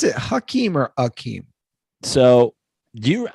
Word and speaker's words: Hakeem: Yeah, they love to make a thing about it, but I'm just saying, I remember Hakeem Olajuwon scoring like 60 points in a fucking playoff game and being like, hungry.